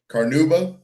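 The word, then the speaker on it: carnauba: Carnuba.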